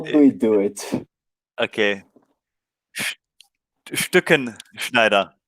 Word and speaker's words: Stückenschneider: It's a really hard name for us to pronounce. So how do we do it? Okay. Stückenschneider. Stückenschneider.